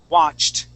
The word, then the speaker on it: watched: rule number one okay the sounding of T kissed stopped watched okay that is the T sound all right so I